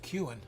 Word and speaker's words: Kuhn: Moving on up, we got some of the Bowie Kuhn. I don't know why I love saying that name, but it's actually pronounced Kuhn.